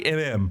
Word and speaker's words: Kh'ymm: And we meet Kh'ymm, and Kh'ymm is spelled not at all the way you'd expect Kim to be spelled, Kh'Ymm, but it's just Kh'ymm.